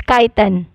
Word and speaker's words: chitin: me change uh not change let me again pronounce the it's not cheating it's kaiten okay fun joy cell walls are made of